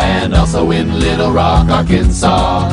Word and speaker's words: Arkansas: also in Little Rock, Arkansas. It ends with an S, but don't say it, boy, when mentioning Springfield, Illinois.